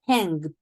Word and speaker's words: hanged: necessarily not hang it hanged like a very strong D at the end very good thank you